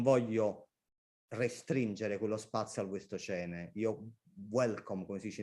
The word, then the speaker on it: Wastocene: Però poi nel sottotitolo hanno messo la parola in inglese Cronache dal Wastocene, che in italiano lo diciamo all'italiano, cioè non Wastocene ma Wastocene, con una pronuncia italiana.